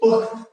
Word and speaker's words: পক্ত: এটা তাহলে পক্ত, পক্ত, তয়ে হর্ষ দিলে মানে কি পুক্ত, না কি পক্ত, আর এটা কি পোক্ত। যুক্ত ব্যঞ্জনের শেষের ধ্বনিটা ওকারান্ত উচ্চারিত হয়, এটার উচ্চারণ হচ্ছে পোক্ত।